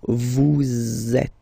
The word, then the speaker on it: vous êtes: So in that case, vous is ending with S, and then you tend to make a little link between them. So vous êtes. Z, it goes like that.